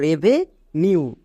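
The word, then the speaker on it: revenue: জন্য ইউ উচ্চারণ করব এখানে সাতটি শব্দ আছে পাঁচ এর বেশি ইউ আছে তাই এর জন্য ইউ উচ্চারণ করলাম যেমন দেখো রেভে নিউ আর ই ভি ই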